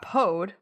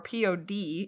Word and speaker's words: Pode: Okay, so not pod or P-O-D, it's Pode, P-O-D-E. I mean, maybe it's pod, and the E is silent.